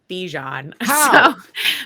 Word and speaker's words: Bijan: excited first of all his name is Bijan wow that's how he pronounces his name so okay okay we have to respect how someone pronounces their okay in my opinion